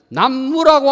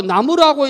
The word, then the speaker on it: 나무: 남자인데 동서남북 할 때 남녀 남자를 남무라고 안 읽고 나무라고 읽는다고 똑같습니다 여기가 정리가 안 돼